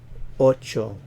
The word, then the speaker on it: ocho: siete siete siete siete Ocho remember always a short vowel and avoid starting this